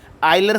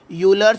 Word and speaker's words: Euler: तो आइए देखते हैं कि आयलर फंक्शन क्या होता है। दोस्तों, कई लोग इसे यूलर्स फंक्शन भी कहते हैं। तो आप जो इसे कहना चाहे कह सकते हैं, क्योंकि कई जगह इसे आयलर फंक्शन कहा जाता है और कई